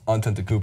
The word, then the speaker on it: Antetokounmpo: of recent and he goes how do you pronounce that guy's name I tell him it's ontent Koo and he goes is he good just watch